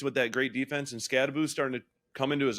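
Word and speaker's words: Skattebo: I hate when people call it Scatabau by the way. I almost did just to really just push her button. Please don't. Unless that's really his name and we're saying it wrong. I don't know. I think it's Scataboo.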